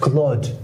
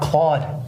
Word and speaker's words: Claude: It's pronounced Claude, not Claude.